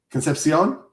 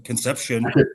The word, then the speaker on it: Concepcion: No, you have to say it right. What is it? You have to say it right. Concepcion? I don't know. Is that right? That's right. You got to say a little flavor. You can't do like Conception.